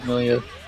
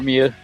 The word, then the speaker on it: Millia: Like actually I really would like to show you Maso's Millia or Mia depending on how you want to pronounce it.